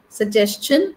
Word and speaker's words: suggestion: will be question CH little bit CH like suggestion suggestion suggestion suggestion huh suggestion question suggestion question we are we are used